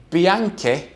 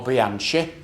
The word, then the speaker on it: Bianchi: we have a fantastic bianca or bianchi whichever way you want to pronounce it ebike this is a